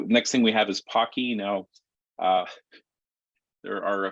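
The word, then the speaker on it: Poky: some people say uh some say Pokey the official way of of uh pronouncing this if you talk to Richard Purdy is Pocky uh Pocky was named after uh the chocolate covered pretzel uh that's quite popular in uh in in Asia uh it is uh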